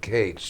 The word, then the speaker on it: Katz: He never pronounced it cats. He pronounced it Kates.